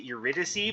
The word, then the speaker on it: Eurydice: idiot euridus i'm pretty sure that's how you pronounce it i know that i know in the game the problems they pronounce it eurydice but i'm pretty sure it's uridis but when i got